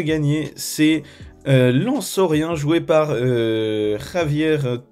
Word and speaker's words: Javier: Lansorien joué par Javier T, je suppose. Oui, non, c'est un espagnol, donc le J se prononce R, enfin, comme ça, je crois que c'est ça.